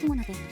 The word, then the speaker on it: Gumiho: Ở Hàn Quốc, nó được phát âm là "Kumiho". Theo như tôi đã nghiên cứu, có vẻ như "gumiho" là tốt trên toàn cầu, bao gồm cả ngữ điệu, vì vậy tôi sẽ tiếp tục với cách phát âm của gumiho.